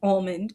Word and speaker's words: almond: When an almond is in fruit form, the L will become silent, and that makes this pronunciation amond.